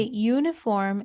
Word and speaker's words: uniform: Okay, so when we say uniform, it's similar to we saying uniform, meaning the vowel, it's no longer a vowel sound, it's a consonant sound, since the pronunciation begins with the sound of Y.